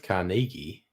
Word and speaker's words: Carnegie: specials are you criticizing my pronunciation of carnegi that's how locals say it Cari depends where you